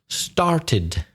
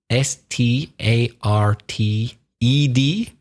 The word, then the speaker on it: started: in the e d started the e is pronounced just to make sure you know what I'm talking about sta RT e d the past simple or